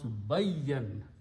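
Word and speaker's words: بيّن: Bain means in between, but if I put a shadda and pronounce bayyan, bayyan means to make something very clear.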